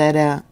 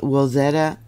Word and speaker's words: Wilzetta: which ruptured a previously unmapped portion of the Wilzetta Fault Zone. It's spelled W-I-L-Z-E-T-T-A.